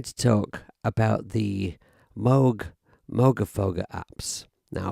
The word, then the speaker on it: Moogerfooger: talk about the Moog Moga foga apps now I believe I'm pronouncing it right because it's not Moog it's Moog so then logically it should be Moga foger if there is anyone